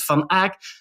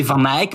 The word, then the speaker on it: Van Eyck: You say Van Eyck, but he's Van Eyck.